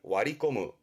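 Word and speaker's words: 割り込む: 세치기 하는 걸 와리꼬무, 와리꼬무. 뒷글자가 당자, 이게 할당됩니다. 업무 할당이라든가 나눠지는 할당, 발음은 와리아테르, 와리아테르.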